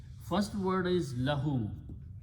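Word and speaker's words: لَهُ: First word is lahu. Lam with a zabar here, fatha and hu.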